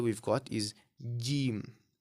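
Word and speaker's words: جيم: It sounds like a J right in English. But the pronunciation of J and the pronunciation of Jim is completely different, right? You may or may not be able to hear it as I've said it, but bear in mind that these pronunciations are different.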